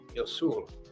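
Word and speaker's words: 유술: martial art they called Yosul, which is the Korean pronunciation of jujutsu.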